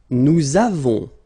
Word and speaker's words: nous avons: so remember, masculine, feminine, nous avons, so you can put this little liaison, link between the two.